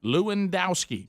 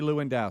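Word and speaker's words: Lewandowski: know police car pack passion Rick to pronounce the last name of Trump's former campaign manag it's lowski leowski Cory leowski Cory leowski and Cory is being questioned by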